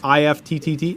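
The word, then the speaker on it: IFTTT: I-F-T-T-T, IFT. It has a thing called recipes, that if you do something, then something else happens.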